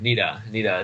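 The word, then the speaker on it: Niddah: Tell me about this Nida thing. Nida, am I pronouncing that right? Yeah, Nida is how it's, and that is a woman's impurity when she's menstruating.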